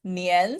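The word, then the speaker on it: 年: This one was Nyan. Very good. N-I-A. Oh my God, it looks so ugly. Yes, Nian, so it's second sound.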